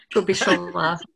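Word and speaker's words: Kubišová: The wrong syllable I'm emphasizing, right? Kubitsova. Alena, are you going to give me that one? Kubitsova.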